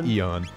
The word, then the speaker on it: aeon: blade I'm pretty sure I'm pretty sure it's Eon it's spelled a e